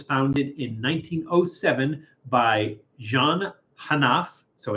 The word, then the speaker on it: Hénaff: It is Hénaff French champagne pork pate. This is a product of France. Hénaff was founded in 1907 by Jean Hénaff, so it's not just a catchy name, Aristide Gantier, and Joseph Stanislas Moreau.